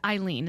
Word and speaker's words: Eileen: its way I speaking of I really liked Eileen is that how to pronounce her name this the sister you always